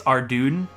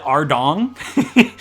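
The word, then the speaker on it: Ardougne: Like, there's a town in RuneScape called, I think it's Ardoon or something like that. That's how you pronounce it. But my entire life, you know, being the American I am, I've always called it Ardong, and I'll never not call it Ardong.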